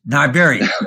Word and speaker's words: New Iberia: New Iberia, it's Niberia. Okay. All right? It's just like like Iberia, Niberia.